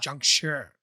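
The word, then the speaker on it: 僵尸: not in china yeah if you want to say it correctly don't forget that little bit of the r on the end of shi because it should be sure yeah junk sure yeah uh just just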